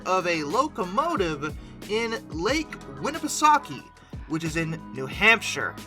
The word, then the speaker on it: Winnipesaukee: Lake Winnipesaukee, which I looked up the pronunciation too, so no one better correct me about this, because that's how it's apparently supposed to be said.